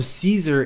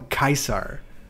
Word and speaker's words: Caesar: game there are different the way that npcs pronounce his name depends on if they like him or not so some call him caesar and some call him kaisar just like that's [